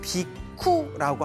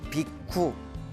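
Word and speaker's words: bhikkhu: 그래서 인도에서는 비쿠라고 합니다. 비쿠. 그리고 이제 우리 한문 발음으로는 비구라고 이제 부르고 있습니다.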